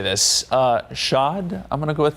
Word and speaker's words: chaud: Chaud, I'm going to go with that. I think that's correct. I think you have to say it like you've ordered something with Grey Poupon. Chaud.